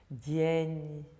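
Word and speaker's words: день: So the soft sign also affects other consonants. So we have the N. Again, just imagine there's a tiny Y after it without really pronouncing it. Dien, which means day, dien.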